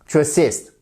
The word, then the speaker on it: assist: de minutes tu assist vous avez votre accentuation sur la seconde syllabe assist he assed her with